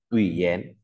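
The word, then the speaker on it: 语言: Ví dụ dén này, ta có từ ngôn ngữ thì người ta sẽ gọi là ủy dén.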